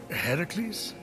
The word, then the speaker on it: Heracles: So, Phoenix, after boldly besting the Gorgon that ambushed Heracles... What are you doing there? That thing with your voice? Heracles? Yeah, that! That is how it's supposed to be pronounced.